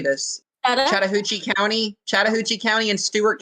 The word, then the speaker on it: Chattahoochee: uh shout out how do you say this Chattahoochee County Chattahoochee County in Stewart County Georgia you